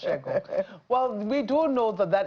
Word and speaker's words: Segun: SH, I think. Yes, but it will be pronounced Shegun.